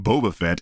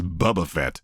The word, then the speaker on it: Boba Fett: This man is still pronouncing Boba Fett as Bubba Fett.